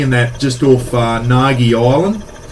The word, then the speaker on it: Naghir: that just off uh Nagi Island n-a-g-h-i-r is how you spell it guys but I guess n-a-g-i Nagi but the English name